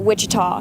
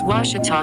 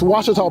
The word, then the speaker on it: Ouachita: for Washita Baptist University back in Texas everybody pronounces it Wichita but really it's Ouachita Washington how would you pronounce it it's Ouachita Baptist University get it right it's Ouachita people it's Ouachita Washington I'm Nicole Auerbach from